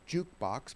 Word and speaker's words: JKBX: We're called Jukebox, but spelled like a ticker symbol, yep.